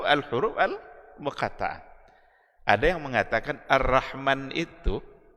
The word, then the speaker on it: Ar-Rahman: Maka Ar-Rahman itu bacanya tetap adalah Ar-Rahman 'allamal Qur'an.